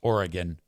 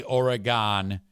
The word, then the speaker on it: Oregon: all understand here that if you say Oregon that is a problem? Oregon. That's how you say it. Oregon. You can even get away with organ. No, you can't. Orin. Three syllables ends with gin, not gone. Oregon.